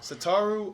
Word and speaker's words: Satoru: do you say his first name sitar ooh satoru iwata yeah real quick we've done this only